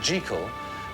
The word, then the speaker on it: Jekyll: And Stevenson always insisted that the name be pronounced Jekyll, partly because that's the way Scots people said it, and partly because it meant that Hyde and Jekyll rhymed with hide and seek.